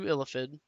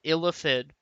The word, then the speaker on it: Illithid: Okay, so now we get to move on to Illithid. And there's going to be some debate on how it's pronounced. But Illithid is how I'm going to pronounce it.